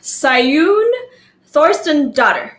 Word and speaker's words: Saeunn Thorsteinsdottir: I'm about to pronounce her name correctly because she's Icelandic. So she has a super cool name. So I practice. Her name is Saeunn Thorsteinsdottir.